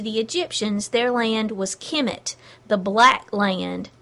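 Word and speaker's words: Kmt: they lived to them it was Kim it which is spelled K M T with no vowels while the Egyptians had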